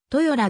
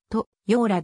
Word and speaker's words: 豊浦: 由来するしたがって読み方はトヨ等でありとようらではないそもそも豊浦郡の